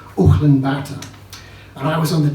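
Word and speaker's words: Ulaanbaatar: what happened when I did change trains in anen Bata that's how we pronounce it here but it's actually pronounced Olan Bata and I was on the trans Mongolian Express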